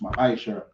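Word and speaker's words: מעשר: verse 8 to 10, means tenth in the Hebrew and is pronounced ma'asher.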